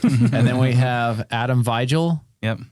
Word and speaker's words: Vigil: And then we have Adam Vigil. Yep. Vigel. That's exactly how you pronounce it. Hill. Vigilante. The Vigilantes. How do you like The it said? Vigilante. It's V-Hill.